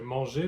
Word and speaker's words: mange: So in French, what you do is you drop the R. So manger becomes mange.